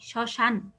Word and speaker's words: শ্মশান: এখন বুঝতে পারছো যে শব্দের শুরুতে যদি মফলা থাকে, হ্যাঁ, শুরুর ব্যঞ্জনের সাথে, তাহলে আমরা উচ্চারণ করব না, আর ওটা কি করব, নাসিক্য উচ্চারণ করব।